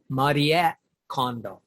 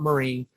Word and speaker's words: Marie Kondo: them and by condo i mean the correct pronunciation is mariette condo she sort of um anglicized it for um